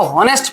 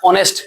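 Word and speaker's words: honest: हम लोग बचपन में इसको होनेस्ट पढ़ते थे। बहुत सारा आज आज भी लोग पढ़ेगा क्या? होनेस्ट। लेकिन रियल में इसको पढ़ा जाता है ऑनेस्ट।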